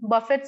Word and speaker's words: buffet: music, birthday celebration, Halloween, buffet system, modern dresses, and much more. We celebrate festivals like buffet system, buffet, not buffet. Buffet is yes, a French buffet word. The system. T is silent.